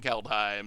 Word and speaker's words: Kaldheim: I'm pretty sure everyone's saying Kaldheim, so I assume that that's actually... I assume that that's actually the correct pronunciation just because that's what everyone's saying, but...